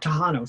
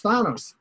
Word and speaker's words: Thanos: Or is it, it's not Tahanos, so he's not Greek, right? Tahanos? No. Okay, so he's Thanos.